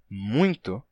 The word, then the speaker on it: muito: Então, para que você represente a pronúncia muito e não muito, então bastaria escrever com um acento agudo sobre o U. Tá? Então, essa seria uma solução, né? M-U com acento agudo e N-T-O.